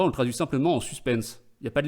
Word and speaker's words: suspens: En suspense, sans prononcer le S à la fin, en suspens.